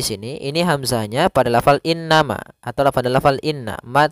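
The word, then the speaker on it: إِنَّمَا: Kemudian pelafal innama, di sini ada bacaan gunnah, yaitu in. Nah, cara membacanya yaitu ditahan dulu surah an-nya 2 harokat. Innama. Nah, ditahan seperti itu.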